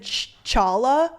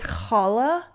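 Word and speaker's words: challah: a Jewish bread and she said Chala or Shala because it is spelled CH but it's Hala and I I there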